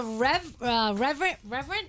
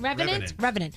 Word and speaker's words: Revenant: The Reverend, is that how you say it? Revenant? Revenant.